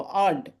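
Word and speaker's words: aren't: ঠিক আছে, যখন আমরা প্রথমে বসাবো তখন উচ্চারণটা এইভাবে করবো, আর্নড, ইজেন্ট, আর্নড, আর ইজের ক্ষেত্রে ইজেন্ট।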